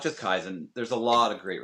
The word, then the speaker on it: Kaizen: Kaizen Pro Wrestling.